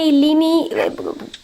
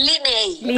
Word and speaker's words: Linei: Sí, aquí tenemos no sé si se pronuncia Lini, corrígeme, ¿cómo estás? Bienvenida, cuéntanos. Es Linei, así que sí, está bien.